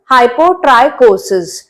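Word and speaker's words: hypotrichosis: the hypot chosis or by spelling we say this just to make you learn but the pronunciation is hypot trioses right now the third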